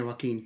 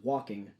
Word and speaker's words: Joaquin: his name uh i keep i keep i mispronounce his name a lot joaquin is that his name yeah joaquin joaquin phoenix his version of the joker every